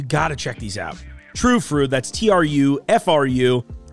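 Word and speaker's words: Tru Fru: True Fru, that's T-R-U-F-R-U. They've got the little umlauts over the U, so you know that you're supposed to pronounce it with that ooh noise.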